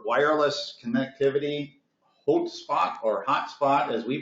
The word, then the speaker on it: HauteSpot: others can't the name of our company is hot spot the it's H a ute which is in German is pronounced boat and if you're ever familiar with